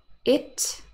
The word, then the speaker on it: it: a minimal pair again it eat so it the pronoun has a short e sound it but eat eat